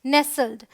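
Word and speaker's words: nestle: है नेसल कैसे समझेंगे देखिए टी साइलेंट रहेगा ना अगर टी एल ई इस तरीके से आ रहा है एस टी एल ई तो टी साइलेंट है इट्स नेसल फिर अमंग यहां पर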